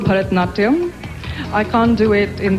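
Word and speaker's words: Bharatanatyam: Help me pronounce it and show us a few steps. Well, it's called Bharatnatyam.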